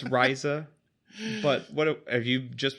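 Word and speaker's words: Ryza: attilia riza pretty hard rizza if you're from the wu tang pronunciation um if not it's rhiza but what have you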